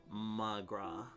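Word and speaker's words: mo chroí: Come on, Magoria. Do you understand? Read an Irish annotation. Irish for my love. One dialect would pronounce it as magra.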